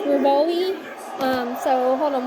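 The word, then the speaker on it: Revali: I think people pronounce him as Rivoli.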